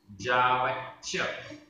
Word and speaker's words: जावच्च: जावच्च, जावच्च आधा च पूरा च।